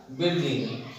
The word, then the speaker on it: building: या बिल्डिंग आहे BUILDING बिल्डिंग इन पाण पढ़ंदासीं छा बिल्डिंग। इन लाइ असां जेके आहिनि लेटर्स जेके आहिनि से साइलेंट थी वञनि था इन रातनि में त